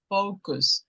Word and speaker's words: focus: Just the pronunciation is focus because we don't focus. Focus.